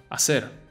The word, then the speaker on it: hacer: Hacer. The H is absolutely silent here, so pretend is written